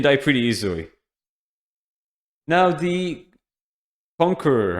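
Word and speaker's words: Concheror: Now the Conqueror. I'm just going to call it the Conqueror, not the Conjurer. I'm sure that some people pronounce it differently, but I think it's pronounced the Conqueror here.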